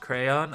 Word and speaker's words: crayon: And also, I know it's pronounced crayon, I'm just pronouncing it weird just to piss people off.